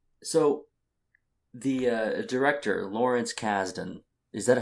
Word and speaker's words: Kasdan: they do yeah so the uh director lawrence kasdan is that how you say it yes there's